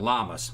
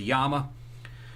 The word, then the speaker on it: Llama: It was a copy of a Colt 1911 that the Yama, or some people call it Llamas. That's what it is. Either the correct pronunciation is a Yama.